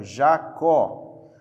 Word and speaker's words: Jacó: Aqui a última sílaba, ó, vou pegar aqui um nome, deixa eu pegar aqui, ó, Jacó. A última sílaba é a tônica, então essa palavra é oxítona.